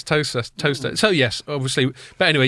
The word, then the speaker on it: Towcester: Toaster? Yeah. Well done. Sorry. Just like Leicester isn't Leicester. Yeah. I kind of gave That's not Towcester, it's Toaster.